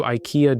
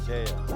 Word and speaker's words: IKEA: What if I told you IKEA just won Campaign of the Year?